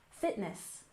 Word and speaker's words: fitness: off we have Fitness we stress the first syllable Fitness Fitness and this is